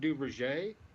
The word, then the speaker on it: Duverger: it calls du's law French mathematician you you pronounce it duver but it's spelled duer Google duverger's law and